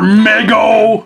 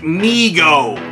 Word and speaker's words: Mego: some more mio figures ah come on more Meg oh I hate to be this guy but it's pronounced me oh okay see there you go anyway like I